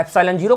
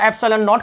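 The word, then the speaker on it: ε₀: हैं अपसिलन up file कुछ लोग जीरो कहते हैं कुछ लोग नोट कहते हैं तो आप अप साइलेंट हीरो कहना चाहे ऐप्सिलन जीरो का लो और ऐप्सिलन नोट कहना चाहे नोट कर लो इसका मां होता है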